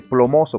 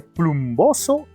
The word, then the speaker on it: plumboso: Por eso no dice plomoso, por si acaso no se dice plomoso ni plómico. Se dice plumboso y plúmbico.